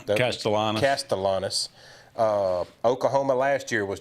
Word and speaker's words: Castellanos: How do you pronounce his name? Castellanos? Yeah, Castellanos.